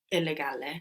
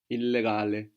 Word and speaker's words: illegale: So the I there is like the sound in ink. And the E like in elephant. So how would you say illegal? Illegale. Very good. Illegale. And you pronounce both L's as well.